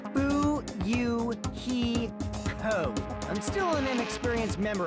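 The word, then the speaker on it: Fuyuhiko: last name is my first name is pronounced boo you he co i'm still an inexperienced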